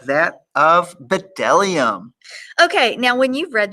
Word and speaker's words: bdellium: No, because bdellium was one of those 3-syllable words that we skip over. It's 4 syllables. Yeah, that too, 4 syllables.